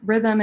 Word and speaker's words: RTHM: So I'd say our website is Rhythm, and it's spelled RTHM.